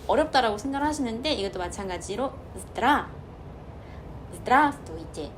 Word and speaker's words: здравствуйте: 생각을 하시는데 이것도 마찬가지로 здравствуйте. 여기서 아만 한번 찍고 뒤에 있는 나머지 알파벳들은 흘려 발음한다 생각하시면 돼요.